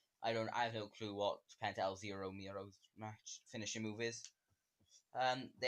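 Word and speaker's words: Penta El Zero Miedo: Penta El Zero Miro.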